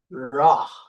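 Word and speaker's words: רע: So, recall that the Hebrew word for evil is ra. Okay, it is pronounced r a w h.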